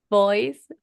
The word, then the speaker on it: voice: So every single time that you see the V, we have to exaggerate it. Voice. Voice. Five. Five. High five. High five. We're going to mark it. Very exaggerated.